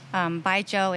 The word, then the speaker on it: Baijiu: Baijiu is pronounced like say goodbye to a guy named Joe. Like, bye, Joe.